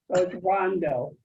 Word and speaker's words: Rondeau: us is that how you pronounce it linda rondo well i always tell people first a man of course denver deer rondo rondo okay good linda is not only a